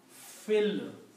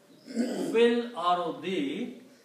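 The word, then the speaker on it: في الأرض: And when you read them together, you combine this fa with the lam and you pronounce fil. You do not pronounce this alif in there. It will be pronounced as fil. Fil ardi. And when you do not pronounce this alif here, then this little sign will change into a small swat sign, which is called hamzatul wasl.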